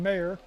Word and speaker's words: Meyer: This is Meyer the left fielder. Mayor I guess not Meer like the kicker. Spelled the same. Mayer the left fielder.